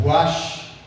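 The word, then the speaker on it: רוח: É interessante, irmãos, eu não sei como é que escreve, fala, pronuncia essa palavra no grego, não é no hebraico, é ruach.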